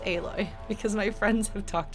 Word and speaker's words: Aloy: everyone loves a-loi and i know that it's pronounced aloy because my friends have talked about her a